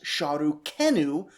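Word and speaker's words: Šarru-kēnu: With later refinement, they were able to begin to infer that our Sargon, Sargon II of Assyria, would probably have pronounced his royal name as Shah Ru Kenu because of linguistic drift.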